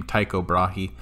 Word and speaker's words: Tycho Brahe: brahi this is a weird a weird name taiko brahi that's how you pronounce it tycho was a danish scientist he